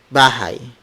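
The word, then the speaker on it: bahay: you are from and in this case it's bhai bhai bhai bhai is the Filipino word for house bhai bhai bhai spelled us be a H a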